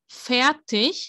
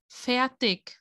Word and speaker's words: fertig: Fertig, the ending, it's like ch, but other dialects or other areas pronounce it more like a k sound. Fertig.